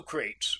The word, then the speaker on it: Crates: I have all my classical names like that, so Crates rhymes with Bates for me, and except